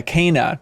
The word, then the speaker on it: Kena: Mine was probably, I don't know if it's pronounced Kena or Kenna. Yeah, Kena, technically. Kena. Mm-hmm. Okay. Like canine.